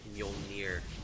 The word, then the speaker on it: Mjolnir: Yeah, that's how you say it, Mjolnir.